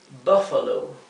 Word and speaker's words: Buffalo: bestia beast Y tenemos Buffalo Buffalo Buffalo Es búffalo verdad fíjense que la u se pronuncia bien cortita porque está está seguida por una consonante doble por lo tanto esta